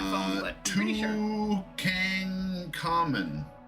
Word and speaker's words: Tutankhamun: Tutankhamun. How do you say that? You can just say King Tut. Tutankhamun? Toot, Ank, on, Mon. And then I think the Ankh is spelled in that way of Ankh.